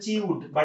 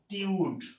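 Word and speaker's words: tude: উচ্চারণ অনেকে বলেন হচ্ছে চিউডবা একচুি উচ্চারণটা চিউড না উচ্চারণটা হবে কি ভাই টিউড কথা কি বুঝতে পারছেন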